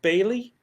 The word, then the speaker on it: Bayleigh: And it was made by a lady named Bailey Frank. That is spelled Bayleigh, Frank, Frank.